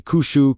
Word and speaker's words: Qushu: This brings us to the third movement, Qushu, pronounced approximately kushu, carrying the sense of knocking, after shala, asking, and Bayou, seeking.